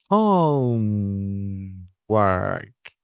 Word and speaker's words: homework: color homeor homeor I would say that both syllables are stressed home work now let's think about